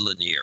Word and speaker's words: Lanier: Lanier? Is that how you say it? Yeah, Jared Lanier.